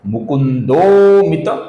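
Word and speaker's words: मुकुन्दोऽमित: तो इसलिए इसका उच्चारण होगा मुकुंदोित विक्रम।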